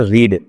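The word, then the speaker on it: read: Pronunciation में क्या अंतर है, जो फर्स्ट फॉर्म है उसे हम कहते हैं रीड, और बाकी जो दोनों होती है उसे हम कहते हैं रेड रेड।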